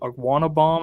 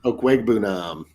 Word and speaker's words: Okwuegbunam: What do you think about Fant getting traded to Seattle and is it Okwuegbunam? Am I pronouncing that right? Okwuegbunam. Okwuegbunam. I didn't put the right emphasis on the right syllable there.